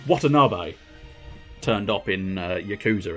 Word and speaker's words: Watanabe: in being able to go ah it's uh watanabe um rather than any other pronunciation it could have been but uh yeah